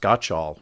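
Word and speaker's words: Gottschall: Paradox um by Jonathan I think it's pronounced got all which which I read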